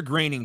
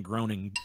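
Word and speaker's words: Groening: but I'm saying Matt Graining. Dude. Yeah, Graining shit. faces. That's the only reason I knew how to pronounce his name. Honestly. Yeah. Graining faces 300. Otherwise, I'd be saying groaning.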